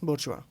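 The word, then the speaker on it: bourgeoisie: इसकी pronunciation is बोर्चुआ।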